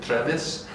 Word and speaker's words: Trevis: Yeah, and it's actually my name on my Russian passport is actually Trevis, so Trevis, and then.